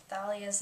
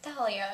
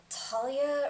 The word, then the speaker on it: Thalia: And then just don't even get me started on how they pronounced Thalia's name, because I've always, you know, thought it was pronounced Thalia. There's an H in there, and like even in